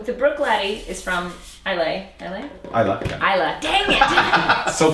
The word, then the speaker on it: Islay: Which a lot of people, I think when they first encounter Islay, they mispronounce it frequently. Yes. It's not Islay. It's not Islay. Yeah, it's Islay. Islay. Yeah. As in, I love Islay.